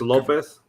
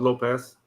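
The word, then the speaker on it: López: but for the record it's Lopez not Lopez Lopez Lopez yeah yeah it's the accent is in the first Lopez yeah say Lopez but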